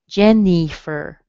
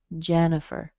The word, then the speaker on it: Jennifer: Notice you don't hear the I. You're going to be tempted to see that I in there and say Jennifer. It doesn't sound like that. It sounds like a schwa. It might sound like a little short I, but it's probably a schwa.